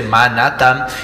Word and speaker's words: Manhattan: La H no se pronuncia, entonces se dice Manhattan.